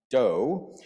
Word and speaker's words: do: that it incorporates including a movable do which is pronounced do that helps tailor the